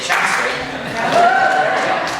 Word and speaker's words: Chelmsford: They're coming from Chelmsford, Mass, or as the locals say, Chelmsford.